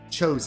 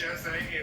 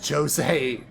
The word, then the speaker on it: Jose: So so I need to find chose. Huh? All right, let's open this. Isn't it pronounced Jose in the game? That's what I just said. Jose. I'm trying to pronounce it the way they pronounce it.